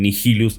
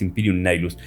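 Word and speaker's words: Imperium Nihilus: Algunos le dicen nigilus, la correcta pronunciación es Imperium Nilus.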